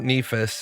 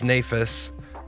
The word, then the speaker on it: Nafas: It's not Nephas, it's Nafas. Uh whose name I've been mispronouncing.